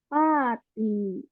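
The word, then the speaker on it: パーティー: Pati. Pati. Hai. Ya, dari ini ya dari bahasa Inggrisnya party gitu ya. Terus pakai pengucapan bahasa Jepang jadi pati.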